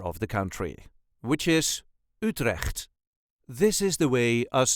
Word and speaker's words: Utrecht: in the center of the country which is utre this is the way us duchies say UT